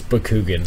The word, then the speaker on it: Bakugan: boy we're on the right page Austin it's Bakugan it's clearly Bakugan anything else is nonsense moving